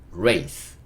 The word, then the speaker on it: race: 여기서 키이 있고 쌍이 있는데 여기선 쌍시 이는요 묵음 그러니까 으 소리 달아주면 race race 이렇게 읽을 수 있겠죠가 만나서 레이가 그죠